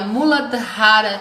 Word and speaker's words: Muladhara: falando do primeiro chakra se pronuncia a mulata Rara chakra é que é